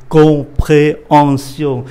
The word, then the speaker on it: compréhension: Chữ M mà đọc là N, chữ H này cơm. Do đó cái chữ này phát âm là compréhension. Compréhension.